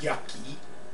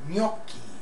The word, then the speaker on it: gnocchi: And it's not pronounced yucky. It's gnocchi, and it's a pasta, an Italian pasta.